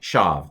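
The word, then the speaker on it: שָׁוְא: by by you know as far as pronunciation it's like shav that's all there is so this is a silent schwa as well uh even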